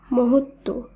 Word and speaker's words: মহত্ব: আবারও বলি, যুক্ত ব্যঞ্জনের সঙ্গে যদি বফলা যুক্ত থাকে তাহলেও সেই বফলার উচ্চারণ হয় না। উদাহরণগুলো দেখে নেব, তাহলে আমাদের বুঝতে আরও সুবিধা হবে। যেমন উজ্জ্বল, সান্ত্বনা, মহত্ব, দ্বন্দ্ব, উচ্ছ্বাস, তত্ত্ব।